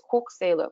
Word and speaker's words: Xwulqw’selu: And the middle word there is Xwulqw’selu, which is how you would pronounce Xwulqw’selu in Hulkaminam, which is the local language of the Cowichan tribes, or the First Nation that lives here.